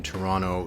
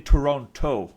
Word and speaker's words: Toronto: how you doing in Toronto because remember the second T we have to pronounce it right no no no we're not supposed to to announce we're not supposed to pronounce the second te that was the whole